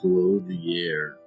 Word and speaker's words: clothier: She says it with a little schwa. Clothier.